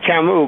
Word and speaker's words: Camus: The last one is Camus, but the others are close enough. Okay, Camus.